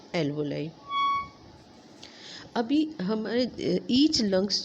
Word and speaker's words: alveoli: सा, उसको कहते हैं एल्वोलाई। इसको कई लोग एल्वोली भी प्रोनाउंस करते हैं, लेकिन इसका जो करेक्ट प्रोनाउंसिएशन है वो एल्वोलाई।